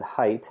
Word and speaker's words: Haidt: The author is Jonathan Haidt, which is spelled Haidt.